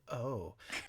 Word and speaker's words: Eu: like it's just called O. Uh well it's it's spelled EU, but I looked it up and it's in France and it's pronounced O.